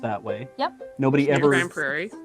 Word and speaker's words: Grand Prairie: way yep nobody ever grand prairie spelled that way and it's said that way yeah and it's the